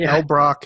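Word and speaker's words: Elbroch: money on it i wish i did but l brock that's spelled e-l-b-r-o-c-h mark l brock anything by him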